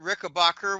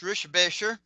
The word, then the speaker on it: Rickenbacker: I've actually met Kurt Rickenbacker, which is actually pronounced Rischebacher.